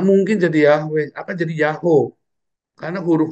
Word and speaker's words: YHWH: Karena memang YHWH itu dibacanya Yahoo kalau tanpa tanda baca.